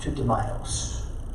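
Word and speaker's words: Tutimaios: And Dudimos in Greek is pronounced Tutamios.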